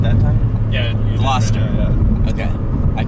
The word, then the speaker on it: Gloucester: did i say it right that time yeah gloucester okay i call it a velocitor velocity the